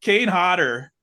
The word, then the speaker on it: Kane Hodder: Kane Hodder is what we say.